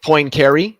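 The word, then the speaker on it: Poincaré: just like everybody says po carry and it's it's p because he's French yeah the N there's not much of an n in it Austine Lou Cosi is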